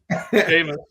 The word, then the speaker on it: Seamus: And Snyder, I'd assume, considering how high you are on, is it pronounced Seamus? Seamus, yeah. Seamus. Uncle T's laughing. Is that how it's pronounced? Seamus. No, it's Seamus.